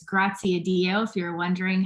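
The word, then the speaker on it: Graziadio: the business school um pepperdine university we it's grazia dio if you're wondering how to pronounce that and we have a bachelor's of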